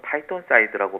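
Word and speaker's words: phytoncide: 예, 피톤치드라는 말은 한국식 표현으로 영어로는 파이톤사이드라고 발음을 하는데요.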